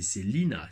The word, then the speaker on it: Selina: Et donc, ouais, je disais Selena, non, en fait, c'est Selina, comme Selina Kyle, Catwoman.